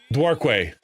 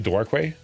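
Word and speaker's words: Dorque: r q u e you'd have to try to pronounce that thing different. Dwarkway. Uh, it's actually Dwar. Um, don't don't pronounce it any other way.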